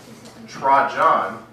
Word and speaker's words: Trajan: Now, the year after the death of the Parthian emperor Mithridates IV, the Roman emperor Trajan, that's how you pronounce it, broke the Roman-Parthian peace treaty.